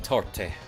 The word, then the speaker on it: torte: We do pronounce the E in torte.